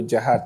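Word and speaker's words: Diakhate: Jihat. I'm going to spell it for everybody.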